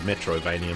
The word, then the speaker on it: Metroidvania: It's about as coherent as most of these I nearly said Metroidvania, my preferred pronunciation.